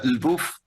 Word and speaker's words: Lwów: llama el buff lvw lw se pronuncia el buff es así es más